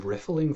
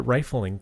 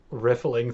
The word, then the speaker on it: riffling: above the rest I'm riffling through all the times I've been at concerts I always pronounced it rifling through I thought there was only one F now I'm riffling through my virtual dictionary